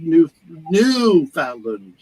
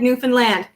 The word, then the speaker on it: Newfoundland: Newfoundland. How do you pronounce it? It rhymes with understand. Understand, Newfoundland.